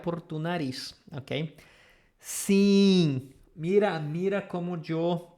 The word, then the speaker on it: sim: So always you see this E-I-M or E-I-N, we are going to pronounce as the same idea as sim.